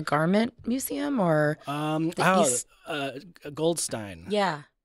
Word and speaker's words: Goldstein: Museum or um uh Goldstein yeah rhymes with design I always have to do that in my head instead of Goldstein Goldstein Museum of design it's on